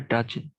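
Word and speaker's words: dudgeon: Pick, resentment আর ডাজেন, এই কথা এর উচ্চারণ হবে ডাজেন।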